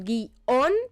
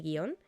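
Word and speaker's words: guion: Sin darnos cuenta, hay un hiato común que todos tenemos aceptado. Por lo tanto, lo coherente sería que si lo pronunciamos como un hiato, lo escribiésemos como tal. Y si aceptamos la norma de escribir guión sin tilde, nos esforzásemos por pronunciarlo así, ¿no?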